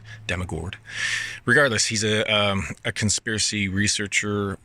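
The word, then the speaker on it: Dammegård: There is an accent above the A in his last name, so it's Dammegard.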